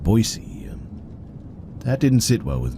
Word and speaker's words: Boise: He called it Boise E and not Boisey.